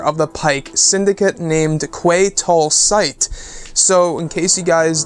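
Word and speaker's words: Quay Tolsite: course the leader of the Pyke syndicate named kwai tall sight so in case you guys didn't hear that it's Quay toll site that's how you pronounce it and this is gonna be the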